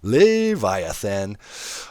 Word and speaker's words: Leviathan: is hanging here like a big medallion, or Leviathan. Learned how to pronounce that, yeah. Thank you guys in the comment section. Leviathan.